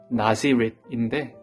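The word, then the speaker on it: Nazirite: 참고로 이 나실인이라는 것은 영어로는 나지렛인데 예수님의 출신지인 나사렛과 발음이 거의 유사합니다.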